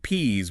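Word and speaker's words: peas: You have to differentiate P's with a Z from peace with an S.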